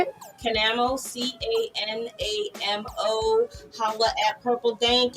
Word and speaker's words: Canamo: Canamo, C-A-N-A-M-O.